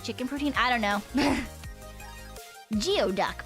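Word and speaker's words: geoduck: protein I don't know geod duck pronounced gooey duck yep have you seen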